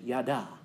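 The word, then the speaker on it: ידע: Now, the word for know in Hebrew, I want to point this, is it's you pronounce it yada.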